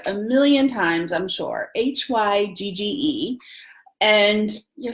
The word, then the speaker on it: hygge: So it's hue-gah, and it is a Danish word that is basically a feeling.